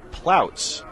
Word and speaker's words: Plouts: And looks like we've got a tweet coming from Sid Marion, D.C., and the pronunciation is Plouts. So thank you for that for Cal's number 35, the defenseman.